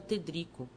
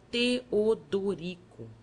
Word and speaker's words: Teodorico: O padre triste perguntou-me o meu nome, que eu pronunciava Tedrico. O outro, amorável, mostrando os dentes frescos, aconselhou-me que separasse as sílabas e dissesse Teodorico.